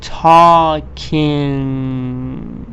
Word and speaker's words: talking: so this is like this this part is pronounced like this so I say what sorry talking or for example walking at the end